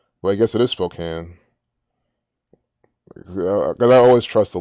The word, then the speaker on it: Spokane: Well, I guess it is Spokane.